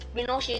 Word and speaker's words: Pinochet: General Augusto पिनोकेट, pronounce पिनोशे, जिन्हें हम पिनोशे कह सकते हैं, an army general lead the cope.